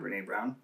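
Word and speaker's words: Brené Brown: right now how do you say her name Brene brown yeah her name Ram Brene brown yeah that's what I'm listening to right now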